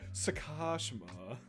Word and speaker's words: Sakashima: did not pay right it wasn't of emphasis sakashima there you go yeah you gotta get real